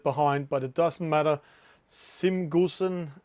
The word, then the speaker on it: Cem Gözen: Simgusen is how do I pronounce that? Cem Gözen. Yeah, Cem Gözen.